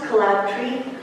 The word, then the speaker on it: Kolabtree: It's pronounced Kolabtree, but like Kolabtree, it's but there are more ways to say it.